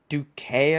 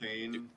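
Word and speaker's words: Duquesne: Uh is it Duket, I think is how you say it. Dukane.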